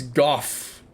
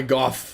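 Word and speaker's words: Gough: forever and never know it's it's Goff Hawkeye goof like cough nice I like that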